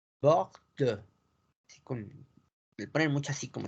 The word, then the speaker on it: Bordeaux: Bordeaux. Bordeaux. Le ponen mucho así como sacando su feeling en francés. Bordeaux.